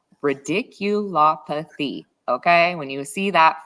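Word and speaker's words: radiculopathy: um great claim to go after yeah absolutely ridiculo oh always say it wrong ridicul apathy okay when you see that fabulous word uh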